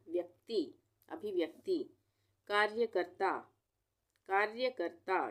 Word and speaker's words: कार्यकर्ता: कार्यकर्ता, कार्यकर्ता, ये भी आसान है, कार्य और कर्ता दोनों में ऊपर आधा र का उच्चारण आ रहा है, तो यहाँ पे रेफ की मात्रा लगेगी, कार्यकर्ता।